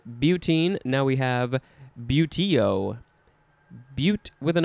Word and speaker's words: butte: Next is butte, that's the pronunciation, B-U-T-E. And that is, it's pronounced the same as the very last word of this episode, but it's spelled a little bit differently.